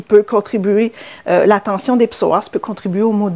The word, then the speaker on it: psoas: On l'appelle fléchisseur de hanche, mais son nom aussi un petit peu plus scientifique, c'est psoas. Alors, comment ça s'écrit?